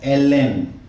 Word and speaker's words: ALLEN: So if we pronunciate L N, then this word A-L-L-E-N is came from Ellen.